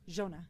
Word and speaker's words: Giona: Utah with the direct no screen composer composer Jonah yes correct how do you say your last